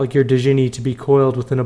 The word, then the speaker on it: Djinn: So we've learned about Mistress's room, a genie, which the way they spelled it, T-J-I-N-N, Djinn, I guess like that, is the original Arabic pronunciation and spelling of genie.